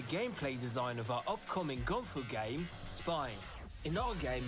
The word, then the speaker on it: gunfu: Also, I thought he was mispronouncing or like had a heavier accent and was saying like kung fu weird. He's saying gun fu.